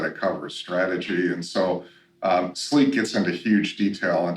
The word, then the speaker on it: SLIQ: So the second product that we came out with was a product called Sleek, which is spelled SLIQ.